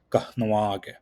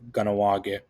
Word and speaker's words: Kahnawake: You might hear some people sort of glance over that first H there, and they'll say Ganawage, but this isn't quite correct. Something that's important for you to know when you're pronouncing this word is that you have to emphasize the H.